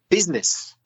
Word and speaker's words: business: that's good business another word which is often mispronounced business spelt B us i ne SS but the AI is not pronounced is it it's business be us i ne SS is pronounced business